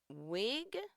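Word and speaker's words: Wiig: your moment that's interesting Kristen wig but there two eyes so that's how pronounce it wig was 33 before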